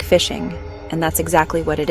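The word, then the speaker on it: phishing: It's pronounced just like fishing, and that's exactly what it is.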